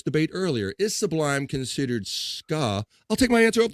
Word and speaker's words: ska: I'd say, forever though I used to pronounce that wrong and say it was skay.